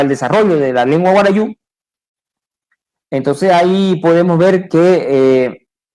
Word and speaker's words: guarayú: El pueblo guarayú, que castellanizado se escribe y se lee y se pronuncia como guarayo, más conocido como guarayo, ¿no?